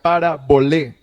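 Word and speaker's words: παραβολή: una parábola pastor bueno la palabra parábola proviene de una palabra griega compuesta y se pronuncia parabol que significa colocar una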